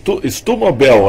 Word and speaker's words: Sturm: Mas um grande abraço para o doutor Sérgio Estumobel, é isso? Doutor Márcio. É um sobrenome, é que o alemão ele é composto, né? Então ele é dividido, que é o Sturm, que seria o Storm do inglês, né?